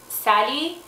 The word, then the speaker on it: Sally: my name is Sally we don't pronounce it like that back home we pronounce it Sally and I was born